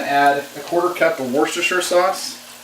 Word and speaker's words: Worcestershire: a quarter cup of Worcestershire sauce Worchester Shire if you'd like to pronounce all the syllables wrong anyway then you also need